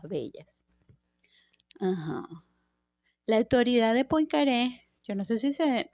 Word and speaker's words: Poincaré: Ay, cónchale. Él es francés, por supuesto. Henry Poincaré. Henry Poincaré. Poincaré. Poincaré. Ok, francés. Francés, chino, a veces F, francés.